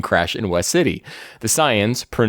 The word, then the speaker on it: Saiyan: The Saiyans, pronounced Saiyan, attack the city hunting for Ozaru and Piccolo, who were sent to Earth to conquer it 2,000 years ago.